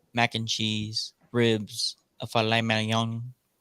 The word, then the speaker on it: filet mignon: and cheese, ribs, a filet mignon. The G is silent, but it's filet mignon.